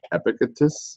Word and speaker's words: Epictetus: and stupid and it's by epicus I believe is how you pronounce the name so let me just